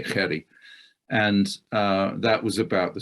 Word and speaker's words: Jerry: The Jerry is pronounced in the South African way, Jerry.